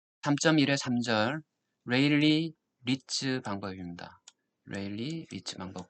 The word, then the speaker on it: Rayleigh: 3.1의 3절 레일리 리츠 방법입니다 레일리 리즈 방법 각각 사람의 이름을 땄는데요 어떤 사람은 일이라고도 부르고 그 사람이 자기 자신을 어떻게 부르는지 잘 모르겠지만은 영어식 발음은 레일리 같습니다 레일리 리츠 메드 리즈라